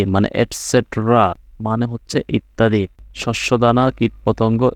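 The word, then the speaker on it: etc.: ইটিসি ইটিসি মানে হচ্ছে et cetera মানে ইত্যাদি হ্যাঁ এটার উচ্চারণ হবে এসেট্রা ইটিসি বলতে পারো এসেট্রাও বলতে পারো মানে ইত্যাদি মানে আরো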